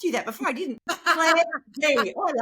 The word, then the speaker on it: Clare Dea: So it's Clare D-E-A. Dea. D. D, yeah. So even though it's DEA, it's pronounced like the alphabet A, B, C, D.